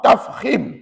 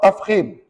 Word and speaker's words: tafkhim: itu terbahagi dua iaitu yang pertama disebut ra tafkhim Cuba sebut yang pertama ra tafkhim dan puan-puan ejaan tafkhim macam ni t t a f